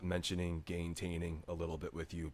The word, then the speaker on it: gaintaining: Gaintaining.